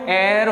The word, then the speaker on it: heir: लेकिन इधर देख लेते हैं, यहाँ पे HEIR, भले ही पहला लेटर एच है, एक कॉन्सोनेंट है, लेकिन इसका जो साउंड है वो एयर होता है क्योंकि इसमें भी एच साइलेंट हो जाता है और इसको हम पढ़ते हैं एयर और एयर एक वॉवेल